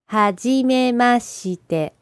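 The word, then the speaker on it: はじめまして: that's quite tricky let's split it up into syllables listen again Hajime mashite try it one more time had you made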